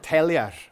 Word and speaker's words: Taylor: Because we've sampled essentially every Orcadian family, we can see it was a man called Taylor, or Tellier, as it's pronounced in Orkney, and they tend to live in Murwick in Bursey to this day.